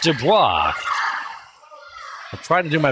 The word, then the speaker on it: De Bois: me there go Olivia De Bois it's pronounced Dubois I'm trying to do